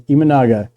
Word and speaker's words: Imanaga: I pronounced it wrong earlier. Imanaga.